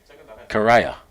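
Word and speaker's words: Cariah: to go back to John ramsing it's a karaya and uh it's a Yannick karaya huh and got to get the proper pronunciation of his name I I do understand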